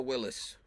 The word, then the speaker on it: Willys: There Willys. You go. Willys, yeah. Yeah, it's LLY, not LOIS.